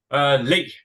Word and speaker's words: Le: And Thor, is it Lay or is it Lee? Just correct me if I'm mispronouncing it. Lee. Lee, okay.